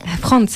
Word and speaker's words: Frans: Franz, hein, je le prononce correctement. Oui, Franz avec un S. Ah, Franz.